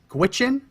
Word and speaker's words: Gwich'in: and informed consent of an adequate consultation with Gwich'in indigenous peoples. And I did look that up. That's how you pronounce it.